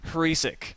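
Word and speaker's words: Hriesik: I'll spell it for you guys. All right. H-R-I-E-S-I-K. I think I've said it 3 different ways. And it's pronounced Hrisik. There we go.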